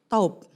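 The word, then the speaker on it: טוב: Dalam bahasa Ibrani baik itu taub. Taub. Ya, saya selalu kalau belajar bahasa, nyangkutin aja biar gampang ingat. Apa? Taub. Tulisannya sebetulnya TOV, tapi bacanya taub.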